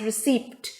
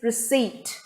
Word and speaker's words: receipt: is not pronounced as received the p is silent here and the stress is on this middle syllable c so it is received let us go to